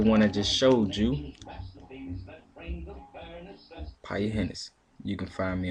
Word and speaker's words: Piaa: That's Piaa. It's pronounced P-I-E-Y-A. Piaa.